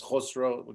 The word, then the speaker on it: Khosrow: My name is Khosrow. was my sort of Western name, so that's how you pronounce it.